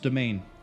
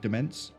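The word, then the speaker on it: demesne: Fun fact, that's pronounced domain. Domain. It's one of those words where it's really weird and it's old, and if you don't know it, then you can easily be forgiven for pronouncing it as like demence. 90% sure it's domain.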